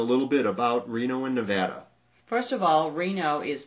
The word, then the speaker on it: Nevada: Now, a lot of people mispronounce Nevada. Have you heard me say Nevada? Most of the whole country calls it Nevada. But if you ever say Nevada, it means you're not from Nevada. Only people who live here know how to say it and say it right.